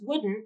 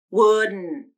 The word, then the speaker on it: wouldn't: Now, I just pronounced wouldn't with nasal plosion and a stop T at the end. Wouldn't, wouldn't.